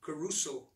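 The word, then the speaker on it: κηρύσσω: reached the last amen the word preaching the greek is pronounced caruso and it means to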